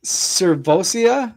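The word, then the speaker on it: Sirvocea: Is it Cervosia Dennis? Yeah. How do you say it? You nailed it. Yeah, you nailed it. Savvosia. Servosia Dennis is going to be a menace uh moving forward.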